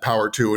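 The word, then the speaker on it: PWR2: director of innovation at Power two and if you keep asking why are we saying power two power two well it's spelled pwr and the number two and that's the company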